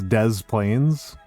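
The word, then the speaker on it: Des Plaines: Uh, for example, it's it's De Moines, but it's Dez Plains.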